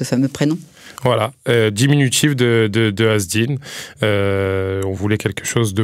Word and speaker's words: Azedine: Moi, on m'appelait Azzedine, comme on m'appelait comme ça à l'école. Alors que c'est Azzedine. Azzedine. Ouais, parce que c'est un E muet, mais bon, c'est très...